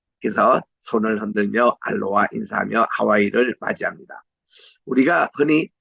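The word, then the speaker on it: aloha: 한국말로는 안녕하십니까 안녕하세요 이건데 알로하 여기에 로의 액센트가 있습니다. 그래서 손을 흔들며 알로하 인사하며 하와이를 맞이합니다.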